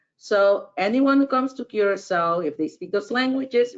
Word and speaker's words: Curaçao: It's a Portuguese word, and under the second C, you'll see an awkward comma, or call it a little tail. That denotes that you have to pronounce that C as an S. Curacao.